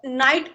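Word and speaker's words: knight: रात मैम रात या फिर छला हुआ रात नहीं नहीं नहीं के एन आई जी एच टीाई इसमें के साइलेंट है छलावा नो मॉम तो नाइट को हम सैनिक भी बोलते हैं।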